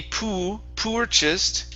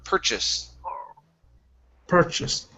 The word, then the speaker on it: purchased: thing here with purchased it's not going to be po purchased it's an ER sound like her per purchase purchase there you go good